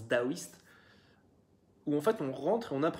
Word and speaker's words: taoïste: Ça s'écrit taoïste avec un T, mais ça se prononce daoïste.